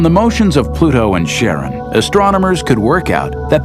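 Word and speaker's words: Charon: in Greek mythology but preferred to pronounce it Sharon more like his wife's name Charlene from the Motions of Pluto and Sharon astronomers could work out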